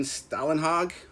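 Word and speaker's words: Stålenhag: The Electric State, as I understand it, so Simon Stalenhag, I think is how you pronounce it, would basically take realistic photos and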